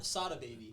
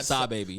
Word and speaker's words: Sada Baby: Sada Baby. No. Sada. That's what you get wrong. No. Sab Baby, not Sada Baby.